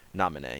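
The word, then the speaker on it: Naminé: instead of kind of yellowy yellow yellowish hair nominee yes that is how it's pronounced so wait she has blonde instead of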